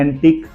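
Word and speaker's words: antique: नहीं किया गया है मैं सारे वर्ड्स एक बार फिर से आपके सामने पढ़कर दिखा रहा हूं एंटीक बुटीक tongue league colleague and plague आप देख सकते हो लास्ट वर्ड क्यू यूई है और जी यूई है यहां पर यू साइलेंट जा रहा है नाउ लास्ट बट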